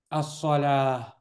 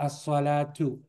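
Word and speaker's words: الصلاة: As-salah, or as-salatu. If you're not gonna pronounce the dhamma here, and you just want to end, the ta' marbuta becomes a-ha, right? As-salah, or as-salatu.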